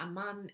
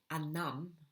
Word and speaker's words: Anam: Tahmima Aman is Anam. I should at least pronounce the name of the author correctly now, shouldn't I?